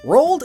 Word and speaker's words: Roald: to reach both poles, and it rhymes with cold, which is where penguins live.